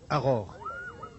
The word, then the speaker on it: Agor: Il faut prononcer Aror.